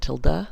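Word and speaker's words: tilde: quote means make it an exact replica control till day now I know other people pronounce it Tilda but I say till day and the till day is uh what allows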